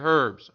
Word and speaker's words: herbs: So, for instance, a merchant that sells armor, makes armor, he's not going to buy your herbs. I think the H is silent.